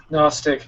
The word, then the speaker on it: gnostic: the chronicle of jesus gnostic please people okay the g is silent yeah i know the